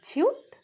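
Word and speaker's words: 치읓: তারপর আসে জিউত, জিউতটা জ বা জি এর মতো উচ্চারণ হয়, কখনো কখনো জে এর মতো উচ্চারণ হয়। এটা হলো ছিউত, ছিউতটা ছ বা সি এইচ এর মতো উচ্চারণ হয়।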